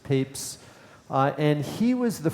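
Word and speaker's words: Papez: scientist named James papes its pronounced papes uh and he was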